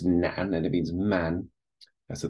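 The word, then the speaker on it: 男: So this is pronounced nan, and it means man.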